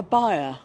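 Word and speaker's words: bier: it exactly well it's a funeral a buyer yes not beer um yeah that's what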